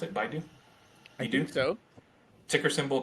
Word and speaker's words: Baidu: cent uh baidu and is that how you pronounce it baidu you do so ticker symbol b-i-d-u yeah uh